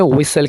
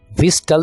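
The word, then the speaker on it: whistle: सरगोशी करना बंद करें सीटी मारने को इंग्लिश में विसल कहते हैं यहां पर हम टी जो हमारे पास अल्फाबेट है इसको हम साइलेंट रखेंगे विस्टल नहीं बोलेंगे ससल कैसे बोलना है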